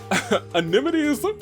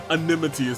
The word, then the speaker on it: amenities: Amenities for me is like anemone for Nemo of Finding Nemo. Man, I can almost never say it right the first time, but then like when I stop for a second, I'm like, yes, it's amenities, not anemones, not like a sea anemone.